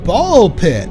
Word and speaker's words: Ball X Pit: I am Pinstar and this is Pinstar Plays Ball Pit. The uh the X is silent.